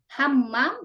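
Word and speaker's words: حمّام: Hammam itu kamar mandi. Kalau hamam dia tidak pakai tasjid jadi merpati.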